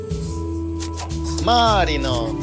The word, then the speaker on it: Марино: Марино, он не Марио, он Марино. Марино! Произноси правильно.